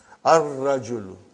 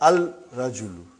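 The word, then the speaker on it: الرجل: Ar-rajulu. Huh? The man. Huh? Not al-rajulu. Huh? It will be wrong to say al-rajulu. It will be ar-rajulu. We won't pronounce lam. Why? Because it is a sun letter.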